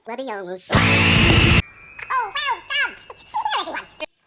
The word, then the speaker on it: Leviosa: It's Leviosa.